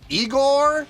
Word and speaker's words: Igorrr: me react to this it is eigor with three Rs uh per performing a